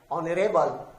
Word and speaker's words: honorable: But we have words like hour, H-O-U-R, honest, honorable. So although these words start with H, but it is not pronounced.